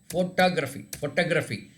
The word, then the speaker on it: photography: Photography. Photography. No, not toe. Photography. As if it is PHOTA. Like that you should pronounce.